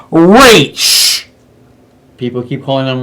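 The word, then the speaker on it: Ra's al Ghul: should we say rachel cool yeah and it's pronounced race people keep calling on raz even on the other review chain is not right it's racial ghoul they made it a point in pronouncing it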